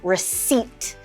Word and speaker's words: receipt: and say recipe but let's focus on the silent P let's pretend it's not even there and pretend it says s e a t so we say receipt and you'll notice that